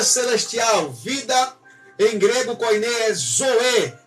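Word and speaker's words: ζωή: é a vida que em grego koinê é pronunciada como vida Celestial vida em grego koiné Zoe e não BIOS de biologia de bi Olimpíadas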